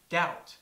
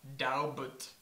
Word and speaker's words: doubt: pronounce it for example a native speaker knows that doubt is pronounced doubt not daut that colel is pronounced